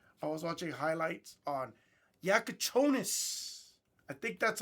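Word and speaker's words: Jakučionis: I was home, I was watching highlights on Yakachonis.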